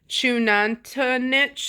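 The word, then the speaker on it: Xunantunich: It's Chunantanich. It starts with the X.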